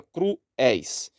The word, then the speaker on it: cruéis: temos a palavra cruéis a palavra cruéis tem o ditongo tem o iato entre o u e o e e tem o ditongo decrescente éis é malzinho ma temos